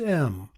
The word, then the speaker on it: EM: It's spelled E-M, and it's pronounced M.